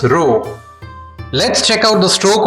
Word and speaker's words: ロ: The R-row sounds are Ra, Ri, Ru, Re, Ro. This is Ra. This is Ri. This is Ru. This is Re. And this is Ro.